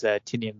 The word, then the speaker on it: Tynion: Oh, Tynion. Whoa. Is that how you pronounce his name? Yeah. My bad. No, that's okay, really? man. You're not the only person who. I thought Doc pronounced it Tynion for a long time.